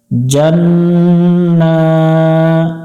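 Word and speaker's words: جنة: করে টান দিব ফিহা জান্না এখানে গুন্না হবে জান্না ওয়াজিব গুন্না এটা এবং নুনের উপর খারা জবর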